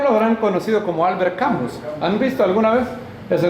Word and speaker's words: Camus: La S no se pronuncia la U en francés, no se pronuncia U, sino que se pronuncia como que van a decir una U, pero en lugar de decir una U, dicen una I.